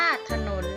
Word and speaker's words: ถนน: อักษร นำ คำ ว่า ถนน ค่ะ อ่าน ว่า ถนน นะ คะ คำ ว่า แหวน ค่ะ อ่าน